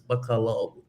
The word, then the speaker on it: Bacolod: You know, I'm I got to my pronunciation is way off, but it's like, you know, I just say BCD, but it's Bacolod, you know, like that, yeah.